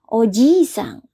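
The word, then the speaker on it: おじいさん: ya ini tolong diperhatikan Kalau pengucapannya panjang ojisa artinya adalah kakek ya sedangkan Kalau pengucapannya pendek Oji sang artinya adalah Om atau Paman ya jadi Oji sangh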